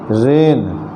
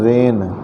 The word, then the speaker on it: reign: जैसे रेन REIGN, यहाँ जी के तुरंत बाद यन आया है तो जी का उच्चारण नहीं हो रहा, सीधे कह रहे हैं रेन।